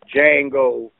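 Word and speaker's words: Django: those did you see Jango the D is silent yes sir remember the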